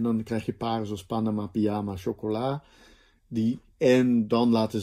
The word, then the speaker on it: Panama: En de klemtoon kan liggen op de eerste lettergreep, Panama, op de tweede lettergreep, pyjama, op de derde lettergreep, chocola.